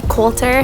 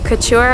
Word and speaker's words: Coulter: Elle Coulter photo yes Colter here's how you say my name not Couture although I'll accept it that's probably the place